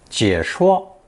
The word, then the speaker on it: 解: Pronounced third tone, 解, 解, and as a phonetic fourth tone, 谢, 谢.